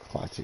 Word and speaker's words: Klaatu: Is how you pronounce it? Black Clathu. Clathu, yeah, that's good.